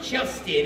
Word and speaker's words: Justin: see, I'm Justin. It's easy to remember. It rhymes with dustbin.